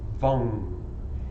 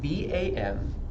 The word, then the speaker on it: Vam: But the sound for the whole chakra, for the Svadhisthana Chakra, is Vam. It's spelled V-A-M, but it's pronounced like lung, but with a V, so Vam.